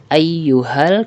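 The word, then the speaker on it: أيها المزمل: berfungsi sebagai Hamzah penghubung maka jika Hamzah ini terletak pada pertengahan ayat maka Hamzah ini tidak dibaca contoh ia Yuh almuzzammil Nah disini ayyuhal kita langsung membaca ke huruf lainnya sedangkan alifnya kita tidak membacanya Nah lain halnya jika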